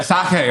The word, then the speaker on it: sake: Yeah, sake, right?